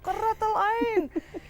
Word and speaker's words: Quratulain: तो उसने कहा कुरातुलैन कुरातुलैन। I love the way he said my name क्योंकि अरबिक प्रोनाउंसिएशन।